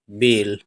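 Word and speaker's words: bale: क्योंकि सबसे पीछे इ है और एल से ल और ये इ साइलेंट रहेगा। इसको नहीं पढ़ेंगे। बी ए एल ई क्या पढ़ेंगे? बेल।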